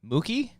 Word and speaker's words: Mookie: It rhymes with cookie. Mookie?